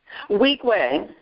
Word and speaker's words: Weequahic: Now pronounce that high school for me. Weequahic. Wow, Weequahic High School. Wow, I never guessed that. The older generation is Weequahic.